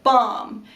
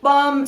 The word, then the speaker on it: balm: you can use lip balm and you don't need to pronounce the L in balm lip balm softens your lips and